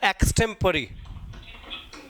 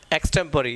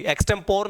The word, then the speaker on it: extempore: और एक होता है एक्सटेम्परी। एक्सटेम्परी होता है, स्पेलिंग क्या उसका? EXTEMPORE। एक्सटेम्परी, एक्सटेम्पोर नहीं बोलते, इसे बोलते हैं एक्सटेम्परी।